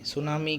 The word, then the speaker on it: tsunami: सुनामी क्या है भाई, देखो सुनामी स्टार्ट होता है टी से, लेकिन यहाँ पे टी साइलेंट होता है।